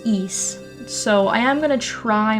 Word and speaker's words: Ys: look it up and the general consensus to say in English anyways is east so I am gonna